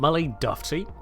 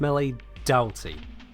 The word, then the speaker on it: Doughty: It's not melee Doughty. It's not melee Doughty. It's not melee Doughty. It's not melee Doughty, it's melee Dowty. There are so many other letter combinations than O-U-G-H to put ow.